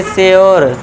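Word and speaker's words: sure: तो इसे हम पढ़ेंगे प्योर। इसे पढ़ेंगे श्योर। है ना? पूरी मत कर देना। श्योर मत कर देना। प्योर श्योर। यह हमारा आपको पता है ई साइलेंट रहता है।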